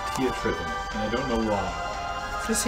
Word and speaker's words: Theatrhythm: I was using the word pronounced Theatrhythm, and I don't know why. No, as far as I've ever heard it pronounced by anybody, it's Theatrhythm. Theatrhythm. Like you're trying to say theater.